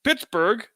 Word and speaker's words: Pittsburgh: among the locals that it's pronounced Pittsburgh in the Germanic fashion but it's spelled in the British fashion but there were other